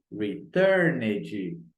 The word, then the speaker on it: returned: O return é dito com som de D. Então, vou dizer returned.